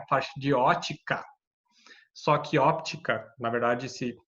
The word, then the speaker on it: óptica: de ótica, só que óptica, na verdade, se pronuncia óptica, porque é ótica sem P, é o estudo do ouvido. Óptica com P é o estudo da luz, da como a gente enxerga a luz e tal.